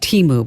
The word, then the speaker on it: Temu: It's pronounced Temu, by the way.